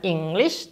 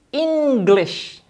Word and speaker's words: English: Bukan English loh ya. Bukan English, tapi English. Penekanannya di suku kata pertama.